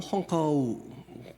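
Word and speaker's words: 虹口: 그 임시 정부에 거기를 쭉 둘러보기도 하고 윤봉길 의사가 그 폭탄을 투척했던 그 홍구 공원 중국어로는 홍커우 공원이라고 해서 이제 원어 발음으로 나오죠.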